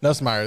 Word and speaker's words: Nussmeier: Nussmeier, there you go.